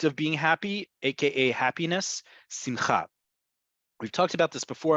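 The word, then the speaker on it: שמחה: in Central Europe too, Ashkenazi Hebrew, it's usually on the second to last syllable, which is why in Yiddish and the Hebrew spoken by many people outside of Israel who come from an Ashkenazi background, they will say simcha.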